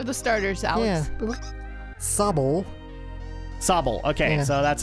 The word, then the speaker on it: Sobble: Sobble.